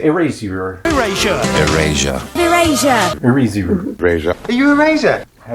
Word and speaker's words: Erasure: Erasure. Erasure. Not eraser. Is that right?